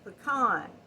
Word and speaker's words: pecan: of crocheting so but how do you say this word i say it pecan that's what we've always said khan we have pecan